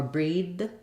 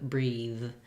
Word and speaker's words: breathe: here would be that if it stops it's going to sound more like a d like Dem instead of them or breed instead of breathe uh I do have